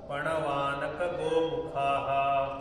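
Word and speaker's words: पणवानकगोमुखाः: भेर्य ततः शंखाश्च भेर्य पण वानक गोमुखाहा पणवानक गोमुखाहा इथं बघा सगळे अकारच्या उच्चारण सोबत म्हणायचे पण वानक गोमुखा पण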